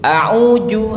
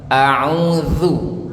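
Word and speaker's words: أعوذ: Nanti nggak boleh ada yang bacanya lagi a'uju. Nah, nggak boleh a'uju, Bu, ya. A'uju. Nah, nggak boleh a'uju lagi, Bu, ya. Pakai zal. A'udzu.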